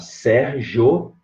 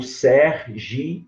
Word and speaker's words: Sérgio: Você pode pronunciar Sérgio, de sílabo, ou Sergi, ou trissílabo.